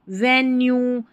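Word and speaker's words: venue: है, जैसे क्यू, यहाँ पर देखिए रेटिन्यू, रेवेन्यू, वेन्यू, ये है ड्यू, ये है सब ड्यू। तो वेन्यू की स्पेलिंग आपने सुनी होगी, यहाँ पर यू ई है आखिर में, इसको यू पढ़ा गया है।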